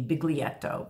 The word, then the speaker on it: biglietto: It'll say biglietto. It's phonetically, it would be biglietto, B-I-G-L-I-E-T-T-O.